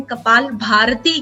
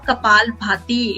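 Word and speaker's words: Kapalbhati: Actually आपने सुना होगा कपाल भाती, एक्चुअली प्रोनाउंस लोग गलत करते हैं, कपाल भारती कहते हैं, but it is a kapal bhati.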